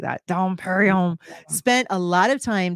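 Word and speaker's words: Dom Pérignon: I love that next question the Benedictine monk Dom Perignon you got to say it like that Dom Perignon spent a lot of time trying to remove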